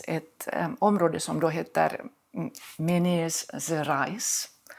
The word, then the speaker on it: Minas Gerais: Och de kommer från Brasilien, från östra Brasilien, där det finns ett område som då heter Minas Gerais. Jag är inte säker på att det uttalas precis så.